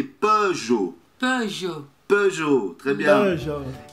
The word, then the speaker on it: Peugeot: Peugeot Citroën. Hã? Peugeot. Peugeot. Alors, é a mesma coisa, não, é, é Renault, não, é, não, é Peugeot e Peugeot. Peugeot.